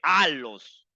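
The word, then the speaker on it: ἄλλος: en griego que significa aos que que se escribe allos pero se lee aos y la palabra aos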